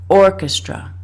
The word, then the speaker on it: orchestra: should be stressing so the apostrophe is right here before the first syllable so we need to say Orchestra the first syllable has to be stressed punched some people who